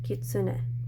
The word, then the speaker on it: kitsune: gonna 1 2 3 and in romaji we've pronounced this Q to a kitsune next let's do Tiger Tiger is like